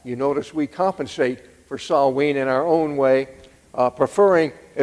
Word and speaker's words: Samhain: It's not spelled the way it's pronounced, Samhain.